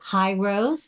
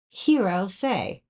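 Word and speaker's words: Hirose: this company is it hrose the answer is no it's hero say just think of David Bowie her Heroes say um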